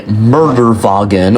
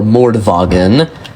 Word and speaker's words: Mordwagen: Okay, we're on the drag strip right now with the Murderwagen, or Mordwagen, as it's more correctly pronounced.